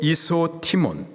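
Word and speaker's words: ἰσότιμον: 헬라식 발음으로 이소티몬, 뜻은 무엇과 비교할 수 없는, 무엇과도 바꿀 수 없는 가장 귀한 이라는 의미예요.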